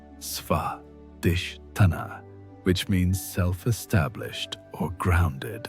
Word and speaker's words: Svadhisthana: The ancient texts describe this as developing Svadhisthana, pronounced Svadhisthana, which means self-established or grounded in one's own nature.